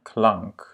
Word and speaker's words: klank: Klank. Et à nouveau, c'est un A court parce qu'il est suivi de 2 consonnes.